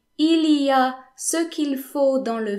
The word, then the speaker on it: il y a: Il y a, which means there is or there are, is often pronounced ya. In fact, it's rarely pronounced il y a. Most people would just say ya.